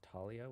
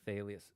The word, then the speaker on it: Thalia: I never liked saying Thalia's name, because I read it pronounced as Talia with a silent H. Yeah, you would think that's the English pronunciation, but remember, it's a Greek name. I think it's supposed to be Thalius.